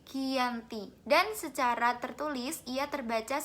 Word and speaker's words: Giyanti: yaitu di desa Janti di dalam pelafalan Belanda tersebut sebagai kiyanti dan secara tertulis ia